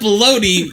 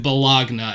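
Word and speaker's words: bologna: you have to spell you have to pronounce it balagna and then you'll be able to spell it correctly but that doesn't sound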